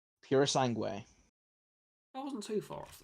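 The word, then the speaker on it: Purosangue: I have a feeling I'm going to offend a lot of people with this pronunciation. You normally do. It's a Ferrari. What about this Ferrari? Perasange? Pura Sangue.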